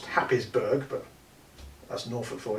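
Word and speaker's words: Happisburgh: dunes on there um hayesburg lighthouse which is uh pronounced happysburg but that's an awful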